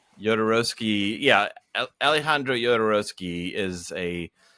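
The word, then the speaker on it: Jodorowsky: the obvious choice is jadorowski and I'm I know I'm mispronouncing it yodorowski yeah Alejandro yodorowski is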